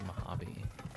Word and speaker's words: Mojave: It's pronounced Mojave.